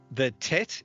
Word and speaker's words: tet: Yeah, and then the tet is pronounced just like a T, so T.